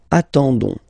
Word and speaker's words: attendons: nous, so ons, okay, you don't pronounce the s, so you get only this on sound, okay. Attendons, nous attendons, so we'll make the link between the two, la liaison.